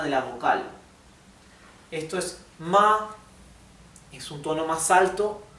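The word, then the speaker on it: 马: Y esto se pronuncia ma, bien, la A baja y sube la pronunciación.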